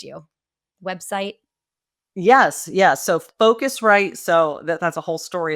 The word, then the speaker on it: Phocuswright: So Focusrite. So that's a whole story as to why we spell it with a PH, but it's PHOCUSWRIGHT.